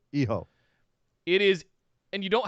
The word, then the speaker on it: Hijo: He says, Dear Morrow and Beth, it's pronounced Iho, not Eo or Hio. Iho.